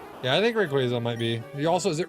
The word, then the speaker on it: Rayquaza: But it's supposed to be Rayquaza cuz like a quazar.